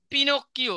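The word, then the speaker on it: Pinocchio: তারপরে এরপরে যেটা রয়েছে পিনোকিও সঠিক উচ্চারণটা করতে হবে পিনোকিও এটা ইতালিয়ান একটা উপন্যাসের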